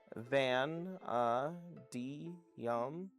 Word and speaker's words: vanadium: Sorry, I I keep pronouncing it wrong. Van uh d yum.